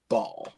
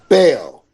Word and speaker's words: Bell: Ladies and gentlemen, please welcome none other than Ball. Hey, the first thing you do, Joe, is pronounce my name. What? What did I do? Bell.